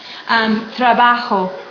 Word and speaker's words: trabajo: Trabajo. That's another one. I work. Or bien trabajo, good work, is always pronounced with each vowel.